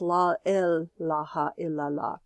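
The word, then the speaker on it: لا إله إلا الله: in the law but Heep was pronouncing it la ilaha il-allah because l especially in urdu l has a very specific meaning so it's la ilaha illa llah and the musical scale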